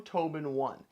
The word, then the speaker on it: TobenOne: taking a look at another Docking Station from Tobin one and despite what I was told the last